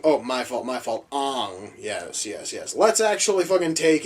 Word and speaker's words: Aang: If our chosen one, Aang, oh, my fault, Ang, yes.